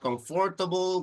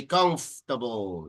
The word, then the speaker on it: comfortable: better the word comfortable the second o doesn't make any sound so it's not comfortable we say comfortable it's like the second